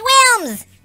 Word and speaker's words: Wilms: It's pronounced films. That's what I said. I want to watch Wilms.